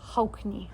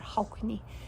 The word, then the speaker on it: Haukni: Haukni. Again, you hear that K in there, Haukni.